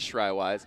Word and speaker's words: Shriwise: the center with shriwise asked him during halftime how you actually say his name and it is shriwise there's Lou to KU